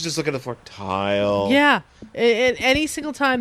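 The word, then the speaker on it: Tyle: yeah but still Tai it's pronounced tile I know okay it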